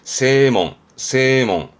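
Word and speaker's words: 正門: 이 정자도 발음 어려워요. 여러 가지 있습니다만 지금은 세몽.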